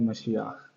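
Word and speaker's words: משיח: अब for example आपका topic है द मज़ाया, ठीक है, मशियाख, उसे इसकी सही प्रोनाउंसिएशन है मशियाख, ठीक है।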